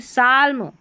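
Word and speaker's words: psalm: अब यहां पर देखिए साल्म साल इसका मतलब भी होता है। ठीक है? भजन। अब यहां पर जो है पी एस को स पढ़ दिया।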